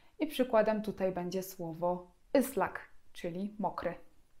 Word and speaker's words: ıslak: I bez kropki i czytamy je zupełnie tak jak polskie Y. I przykładem tutaj będzie słowo ıslak, czyli mokry. Islak.